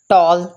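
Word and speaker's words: tall: For example tomato, tomato, टेबल, टॉल, देखिए इधर ए जो है वो ओ की साउंड दे रहा है, टॉल एंड टास्क।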